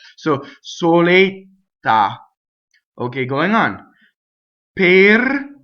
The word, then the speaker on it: per: Per, it doesn't rhyme with the fruit. Per, no. The R is its own position, coming from the A. Per. So your A, per, not pear, right?